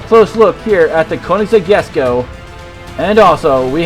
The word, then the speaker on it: Koenigsegg: we have the hot wheels boys driving the koenigsegg yes go and yes that is how you pronounce it and also from new zealand we